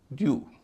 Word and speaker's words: dew: DEW, ड की ध्वनि है, यह भी जोशीले चार में नहीं है, ड्यू।